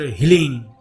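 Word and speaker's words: ह्लीं: अब अपने आज्ञा चक्र को थोड़ा सा पिंच करें और बगला मुखी का बीज मंत्र हीलिंग HLEEM, इसे इंग्लिश में लिखेंगे तो HLEEM हीलिंग का उच्चारण करें।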